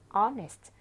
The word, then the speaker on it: honest: 그래서 honest.